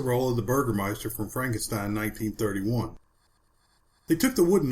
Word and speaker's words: Frankenstein: Frankenstein is trying to distance himself from his grandfather's work and insists his name is pronounced Frankenstein.